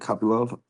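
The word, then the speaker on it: Kopylov: I'm going go with Roman Cop Love. Is that how you say it? Copy. Love.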